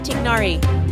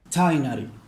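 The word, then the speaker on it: Tighnari: won't hold back he also calls tigari which is how it's supposed to be pronounced because that's the way it's supposed to be spelled and pronounced but for some reason somebody decided that it ought to be pronounced Tali nut why why what and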